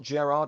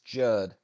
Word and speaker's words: Gerard: It's not Gerard, it's Gerd.